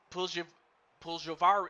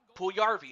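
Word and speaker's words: Puljujärvi: Anyway, Puljavari, I can't even pronounce this young man's name. Puljarvi, okay, that's it.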